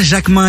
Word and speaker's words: Jacqmin: Yes, c'est.Jacquemin et Jacquemin, ça s'écrit Jacquemin. Eh merci.